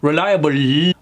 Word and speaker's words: reliable: And remember how I was saying how those L's at the end are relaxed. A lot of accents, particularly Indian accents, has a tendency of really musling those L's. Reliable. Whereas in the American English, that last L is relaxed. Reliable. Where's my L? Do you see it or hear an L at all?